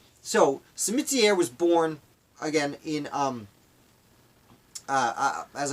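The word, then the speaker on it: Simitière: I believe it's pronounced Cimetière, with that French kind of twist. So, Cimetière was born, again, in, as I said, Switzerland, but he would come to the United States.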